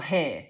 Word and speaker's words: hay: They are also in your hair. Because the hair, it's h a y because I've got a Yorkshire accent. Everyone says I don't say it right.